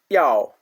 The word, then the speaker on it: yao: Yow, yow, yow. It sounds like yow, yow, yow. Just like a cat says meow, yow, yow.